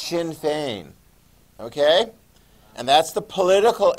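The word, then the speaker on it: Sinn Féin: shin fein looks like sin theon or something like that yeah but you need to pronounce it the way they do in ireland it's pronounced shin fein okay and that's the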